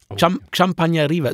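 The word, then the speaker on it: Xampanyeria: euch und zwar die champagneria da schreibt man mit X vorne champagneria so wie chavi der berühmte Katalan ja das da kommt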